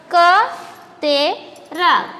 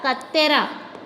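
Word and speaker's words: కత్తెర: Ka, te, ra. Kattera. Kattera means Caesar. Katti. Katti, knife. You know katti? This, when we read this katera, katera is the pronunciation correct? No.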